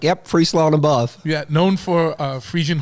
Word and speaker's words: Friesland: I got my man Johannes on, who you might know as the Crown Prince of Friesland. Did I say it right? Friesland? You did. Yes, you did.